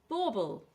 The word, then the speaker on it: bauble: Bauble. This is what you have on your tree. And two syllables, stress on the first syllable.